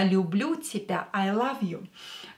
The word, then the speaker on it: люблю: Люблю, лю, лю. When you pronounce you, put your lips like that. Люблю, люблю, love. Я люблю тебя, I love you. Probably you know this phrase, right? Я люблю тебя, I love you.